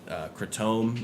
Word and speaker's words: kratom: Yeah, so Kratom, a lot people probably give me a hard time for saying it that way. That's how everybody says it in the Southwest. It's also said Kratom is another pronunciation.